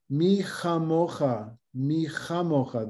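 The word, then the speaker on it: מי כמוכה: we go, Mi chamocha, the kaf of kamocha is without a dot, mi chamocha, because the syllable before, the E, is considered a long syllable, O and E, as opposed to A and E. And so that when you have an E in the syllable beforehand, the next consonant is a soft one.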